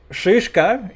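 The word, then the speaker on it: шишка: But it also has to be like very harsh. The sh is like a very harsh sound.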